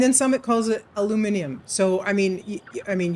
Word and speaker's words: aluminium: The the spelling is uh if pronounced correctly is aluminium but obviously colloquial it's aluminum and sure every other variation.